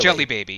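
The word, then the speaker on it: Djelibeybi: Jelly Baby. Yes. Yeah. The country is called Jelly Baby. Yeah. It's spelled with a DJ and Yeah.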